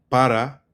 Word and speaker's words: para: And then para becomes remember right don't even say para it's becomes pa it's the most common p for and two which is pa pa there right so